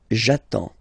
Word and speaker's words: j'attends: So the first form will be j'attends. J'attends. Okay, you get D and S. Well, basically you don't pronounce them. Okay, and then you get only the sound attends.